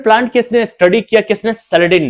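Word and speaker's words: Schleiden: इसका नाम जो है मेथियास स्केलेडिन है। उस सैलेडिन पढ़ते, मैं सैलेडिन पढ़ता हूं, अपनी मर्जी, आप इसको स्केलेडिन भी पढ़ सकते हैं, हालांकि यह साइलेंट होता है ये, तो कैलेडिन सैलेडिन ऐसा पढ़ा जाता है।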